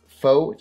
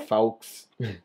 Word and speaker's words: faux: with your friends it's faux chinchilla okay just saying if you enjoyed me stumbling over the word foe but i said it right i didn't i used to call it like folks and you want to